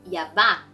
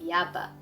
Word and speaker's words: Yabá: Fun fact, it is Yabá, not Yaba. It has the accent on the A at the end.